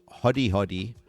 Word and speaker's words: Hodi Hodi: First of all, Hodi Hodi, is that the way that we pronounce it? Yes, it's a Swahili word, and it means knock knock.